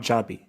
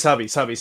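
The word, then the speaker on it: Xabi: So it's pronounced Zabi, not Jabi. Yeah, it's Sabi, because it's a Basque name. It's not a Catalan name.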